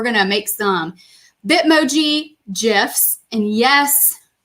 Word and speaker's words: GIF: And we're going to make some Bitmoji GIFs. And yes, I'm a soft G kind of gal.